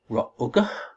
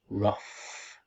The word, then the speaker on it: rough: Okay, so maybe we pronounce this word Ra'uga? Ra'uga? No, actually, most of these letters are silent letters. We pronounce this word rough, actually.